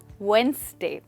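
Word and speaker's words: Wednesday: To yoga classes every वेडनेसडे। Perfect. तो याद रखिए दोस्तों कि यहाँ पर डी साइलेंट है, आप वेडनेसडे नहीं बट वेडनेसडे कहेंगे।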